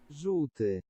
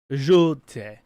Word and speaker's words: Żółty: It's really hard for it's notorious for English people not to be able to pronounce. It's this word. Żółty. Żółty.